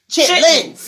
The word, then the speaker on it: chitterlings: Also, like chitterlings. Chitlins. Yeah. Everybody call it that.